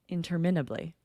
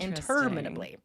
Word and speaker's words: interminably: two printers in Idaho we say interminably oh that sounds so wrong permanently like indubitably you know with a certain number of uh syllables that's where the stress has to be on the second interminably so we just say it wrong in Idaho that's not the first